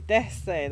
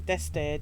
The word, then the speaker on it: Deste: Deste, that's how you say her name. Deste.